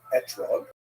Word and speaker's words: etrog: We all correct fruit to Britain is an etrog, or an esrog in the Ashkenazi pronunciation.